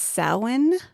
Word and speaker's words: Samhain: I almost pronounced this wrong, but I believe it's pronounced Samhain. Samhainophobia. Is that the fear of Halloween? Yes, it is. It's spelled like Sam Hain. Yeah, it's Samhain.